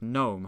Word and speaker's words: gnome: words like night or the g in words like gnome have become silent over time.